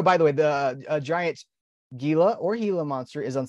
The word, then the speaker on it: Gila: we've got the giant is it Gila do you pronounce it Gila monster it is Hilo right you know I I